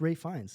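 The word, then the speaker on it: Ralph Fiennes: Ray Fine? Ralph Voldemort? Yes, thank you, Guys, Voldemort. Ray Fine. Ray Fine is. I didn't know about this. You don't pronounce the PH. It's Ray Fiennes.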